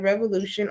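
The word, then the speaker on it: Re-volution: website is revolution well it's pronounced revolution but it's spelled like revolution r e dash v o l u t i o n water dot com um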